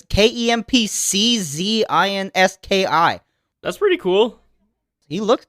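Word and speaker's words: Kempczinski: It's like Chris Krempzinski, but it's Kempczynski.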